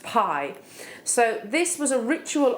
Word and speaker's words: bi: pronounced um it's spelled bi I but it's pronounced Pi so this was a ritual object um pie